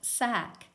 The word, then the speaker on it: sack: And the C is silent, and we hear the K. Can you read that word? Right, sack.